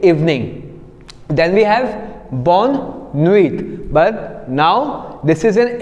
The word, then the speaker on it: nuit: So we have bonne nuit. Again, because T is a consonant and we are not going to pronounce the consonant, so we are saying Nui, N-U-I, Nui.